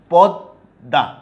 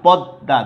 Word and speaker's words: পদ্মা: তাইলে দেখো পদ্মা, বুঝতে পেরেছ? পদ্মা, দেখো যে বর্ণের সাথে ম যুক্ত আছে সেই বর্ণটার দ্বিত্ব উচ্চারণ হচ্ছে দুইবার, পদ্মা, দুইটাই দ, বাট মটা কিন্তু উচ্চারণ হচ্ছে না, ময়ের উচ্চারণ বিলুপ্ত হয়েছে।